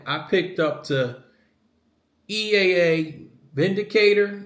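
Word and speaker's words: Windicator: picked up the EA Vindicator it's with a W but it's pronounced Vindicator and this is in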